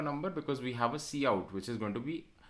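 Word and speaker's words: cout: is point number one see how it is pronounced as c out okay c out okay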